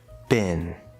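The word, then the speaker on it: been: Bin. In American English, this is pronounced just like B-I-N, bin.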